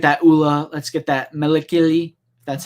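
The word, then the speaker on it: Malakili: goals let's get that oola let's get that melikili that's how you pronounce the rancor keeper's name so i'm excited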